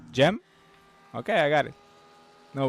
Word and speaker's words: Cem: Oh, because maybe in uh are you Turkish, right? In Turkish you say Cem?